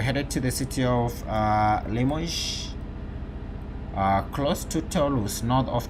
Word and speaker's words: Limoges: Limoges, yes, Limoges, that's the correct pronunciation, close to what should be correct.